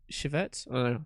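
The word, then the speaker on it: civet: a small cat corded Chevette that's how you pronounce it interestingly enough the flavor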